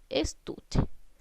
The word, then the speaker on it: estuche: Estuche. La palabra estuche, estamos cargando la voz en la sílaba tú. La sílaba tú está ubicada en la penúltima sílaba.